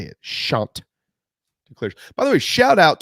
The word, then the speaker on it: Chanticleers: Joe Cashion, voice of the Chanticleers. For those of you that have just moved to the great state of South Carolina, that's how you say it. Chanticleers.